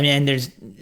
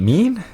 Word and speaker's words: MENE: Is it mean? Mean? It's like this company's mean mugging us, it's like right? meme without the second M.